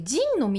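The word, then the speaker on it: 仁の道: 二の道じゃなくて、仁の道って読むんだ。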